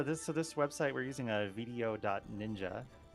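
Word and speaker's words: VDO.Ninja: Yeah, this website we're using a video.ninja. Video Ninja is the way it's meant to be pronounced, and it's basically like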